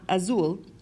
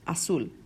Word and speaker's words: azul: more about then as it's not Azul as soon as soon or tossa which means